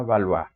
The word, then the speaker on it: Valois: Valois, o pronunciado como corresponde en francés, Francia A. Valois.